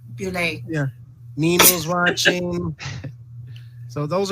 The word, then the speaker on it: Buell: Emily Buell. I'm pronouncing probably her name wrong too. It's Bulle.